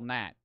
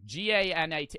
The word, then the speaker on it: gnat: That's how you spell gnat.